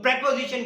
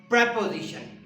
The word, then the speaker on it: preposition: पोजिशनिंग word is called प्रेपोजिशन। और हमारे बहुत सारे साथी इस वर्ड को प्रीपोजिशन पढ़ते हैं, जबकि इसका एक्चुअल जो प्रोनाउंसिएशन है वो है प्रेपोजिशन, प्रीपोजिशन नहीं है।